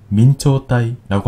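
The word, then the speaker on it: 明朝体: 일본어로 명조체는 민초따이라고 합니다.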